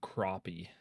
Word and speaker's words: crappie: Some people call them crappie. Crappie? Yeah. No, it's spelled Crappie. Yeah.